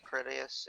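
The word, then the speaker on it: Critias: It's Tamias, Critius, and Hermos.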